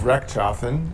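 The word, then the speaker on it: Rechtschaffen: to work with him my last name is re chafen uh very hard to say unless you know how to say it and it means do right or make right shafen means make or do re is right It's a Wonderful Name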